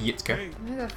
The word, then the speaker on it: Jitka: Emerald Heart says their doggo's name is Yitka. Oh, It's it's the wrong way. spelt Jitka, but pronounced Yitka.